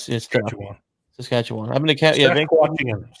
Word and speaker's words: Saskatchewan: You did good by actually pronouncing it correctly. No, it's Saskatchewan. I've been to Sasquatchian.